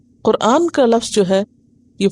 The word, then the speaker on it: قرآن: قرآن ہی ہے، اور صحیح لفظ اور تلفظ کیا ہے؟ قرآن۔ اور یہ خالصتاً عربی